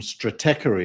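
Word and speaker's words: Stratechery: uh ben thompson from strategy as i pronounce it apparently that's not the american pronunciation he's a good writer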